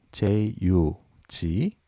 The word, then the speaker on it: jug: 이번 단어는 주전자, 항아리 뜻을 가진 J-U-G, jug입니다. jug. J는 지읒 발음, U는 G는 기역 발음. 합쳐서 읽으면 jug가 됩니다.